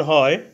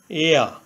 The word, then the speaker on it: heir: এখানে heir এর প্রথমে এইচ কনসোনেন্ট। এইচ এর উচ্চারণ হয় বাংলা হয়ের মতো। প্রথমে এইচ ধরে উচ্চারণ করলে হয় হেয়া, কিন্তু এইচের উচ্চারণ না হয়ে ভাওয়েল ই থেকে উচ্চারণ হয়েছে এয়া।